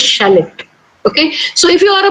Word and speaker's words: Charlotte: Okay, so you would say, if you go the Kannada way or the Indian way, you would say Charlotte or something like that. But do you know how to pronounce this word? This way, shallot. This is a name of a girl, and the right way to pronounce this word is, this name is shallot.